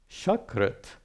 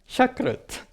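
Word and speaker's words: शकृत्: Like sakrit means once, shakrit means feces. You don't want to confuse those words, sakrit and shakrit. Difference between sa and sha, not much difference.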